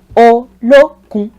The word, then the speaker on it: Olokun: Olokun. This is a 3-syllabled one. Olokun.